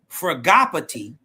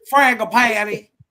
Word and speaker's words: Fragopathy: Fragopathy, which is how you say it. It's not It's not fragatt.